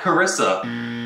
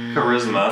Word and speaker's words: Charisma: CH a RI s not charissa charisma everybody says charissa you can also text